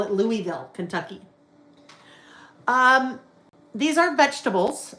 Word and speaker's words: Louisville: If there's anyone in Kentucky, that is either Louisville or Lou. Louville. Louisville. Louisville or Louisville. Louisville. Not Lewisville. I know it's not Louiswisville, but Louisville.